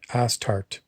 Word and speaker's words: Astarte: It's a funny name because that's the way it's pronounced. Astarte, Astarte.